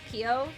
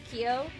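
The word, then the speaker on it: Keeho: Harmony look up kho Kio is pronounced k e h o Kio from P1 Harmony that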